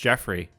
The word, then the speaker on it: Joffrey: Nobody will ever be worse though than Joffrey Landgraab, and I know it's pronounced Jeffrey.